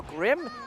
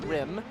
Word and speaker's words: Crim: It is Crim, not Grim. It is a C.